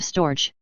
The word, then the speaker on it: storge: they're not clever enough the Greeks called This Love storge two syllables and the g is hard I shall here call